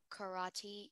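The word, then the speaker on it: carate: spanish am i saying the word correctly yeah karate um 30 seconds remaining karate can you repeat the pronunciation it's just karate karate c-a-r-a-t-e karate that is correct thank you our next speller is speller 38.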